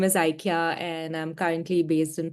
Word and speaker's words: Ikya: Maybe I didn't mispronounce her name. She will say it correctly. Ikya, right? Yeah, Ikya.